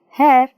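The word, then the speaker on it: hare: See, pronounce this, hair, hair. H-A-I-R, hair, H-A-R-E, hair. Hair andre ಕೂದಲು, hair andre la. See the meanings, different meanings, only same pronunciation.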